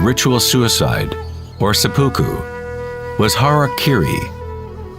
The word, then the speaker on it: harakiri: suicide or seppuku was harakiri was often mispronounced as Harry Carey it means to impale